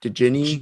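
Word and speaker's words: Djinn: to pronounce it did ginny jin jin jin is it okay so the d is silent okay got it gin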